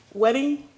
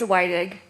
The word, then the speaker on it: Wydig: And Wedding, and I'm pronouncing that last name wrong. It's Wydig, and I'm here.